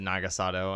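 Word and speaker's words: Naga Sadow: nagasato however you say it I've always said nagasado and I believe that is the if you're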